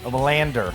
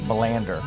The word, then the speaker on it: Melander: big Bradley Baker knows great Melander that's the proper pronunciation Melander that's right I made him